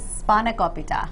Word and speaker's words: Spanakopita: How do I pronounce this one? Spanakopita.